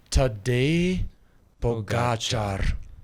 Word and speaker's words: Tadej Pogačar: Tadej, almost like Sade, I love. Tadej Pogačar. A lot of people say it wrong, by the way. If you watch TV, everybody's saying it wrong. We've been butchering it.